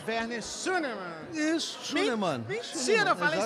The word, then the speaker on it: Schünemann: É Werner Schunemann. Isso, Schunemann. Mentira, eu falei certo. É, porque não faz sentido fazer a pronúncia alemã desse nome, né? Schunemann, pronto. O alemão é um pouquinho mais diferente, mas não tem problema.